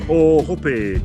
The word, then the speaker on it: Ohope: So it's called ohope, to be hung by the hips. Oh, right. So Mark's got good pronunciation, and Ohope.